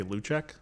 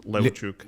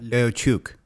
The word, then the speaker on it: Leucic: I just say Leucic, but it's pronounced Leucic. Leucic.